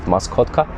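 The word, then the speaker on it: Maskotka: It's a Polish variety. It's actually pronounced Mascotka.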